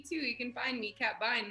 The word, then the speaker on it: Kat Bein: you can find me kat vine that's my name and uh yeah cad vine catbine that's right yeah rhymes with fine lines yeah you you were